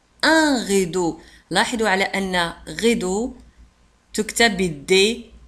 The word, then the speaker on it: rideau: rideau le rideau un rideau لاحظوا على أن rideau تكتب بالدي E A U وتنطق دو le rideau un rideau le rideau